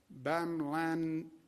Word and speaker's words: bamlanivimab: Additional good news, FDA has allocated 4,600 doses of the therapeutic bamlanivimab. How do you pronounce that, doctor?